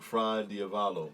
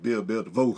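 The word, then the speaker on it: fra diavolo: I keep saying it wrong. Oh, the shrimp fried diavolo. Yeah, I keep calling it shrimp Bill the vote.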